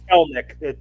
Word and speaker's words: Kelenic: It's Kelenic. The something in there is silent. The middle E is silent.